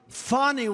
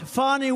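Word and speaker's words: Fani: Now, even though I believe it's spelled F-A-N-I, to my way of thinking, that's Fanny. But once she became the district attorney, I think she put a little emphasis on the U.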